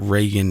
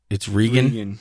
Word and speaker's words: Regan: It's not Reagan. It's Regan. Regan.